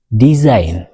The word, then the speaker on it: design: rule 1 ሕጊ ሓደ g is silent if a word ends in gn g bgn ዝውድኡ ቃላት እንድሕን ኮይኑ g silent ይኸውን ወይ ድማ ይንበብን ይብለና ዘለ ንኣብነት complain design foreign rain sein ዝብሉ